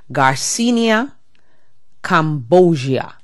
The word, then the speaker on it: garcinia cambogia: name of this fat buster supplement is called garcinia Cambogia okay and it's spelled g-a-r-c-i-n-i-a -c-a-m-b-o-g-i-a and it's pronounced just the way I said before garcinia Cambodia and they're claiming that you have to you